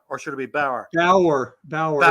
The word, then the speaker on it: Bower: or should it be Bower Bower Bower it's not like the German farmer it's b o it's not b a r is bow or b w e r is B is Bow and c and my name